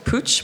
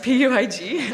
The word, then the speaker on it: Puig: And around 3 years ago, I joined a group called Puig, which nobody knows how to say. It's spelled P-U-I-G. I called it Puig myself before, but it's a Spanish group.